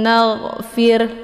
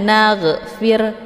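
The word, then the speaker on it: نَغْفِرْ: Di sini ada huruf gha ya, yang letaknya di tenggorokan bagian atas. Gha ya, cara bacanya dialirkan setengah. Naghfir, jangan naghfir keluar bunyi g, itu bacaan yang salah karena gha ini bukan huruf qalqalaf, jadi tidak boleh dibaca secara memantul.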